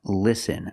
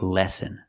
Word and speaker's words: listen: he means listen again the word is pronounced listen not lessen we need to short is sound like this is li listen so it should be